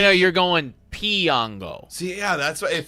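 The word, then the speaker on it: Piñango: I looked up like how to pronounce Johendrick Piango, or that's Pinyango. Like a pin.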